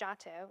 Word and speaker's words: Giotto: was a guy named Otto it's spelled GI TT o or GI o TT o it's not spelled at all like you would think so if you see